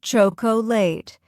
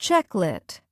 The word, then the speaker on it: chocolate: Wrong. Chocolate. Correct. Chocolate. We don't say chocolate, just checklet.